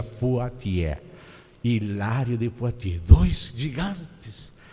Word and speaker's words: Poitiers: foi Hilário de potier se escreve poitiers mas se pronuncia potier Hilário de poti dois